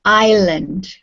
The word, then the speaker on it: island: Like island has an S in it, and we don't pronounce the S.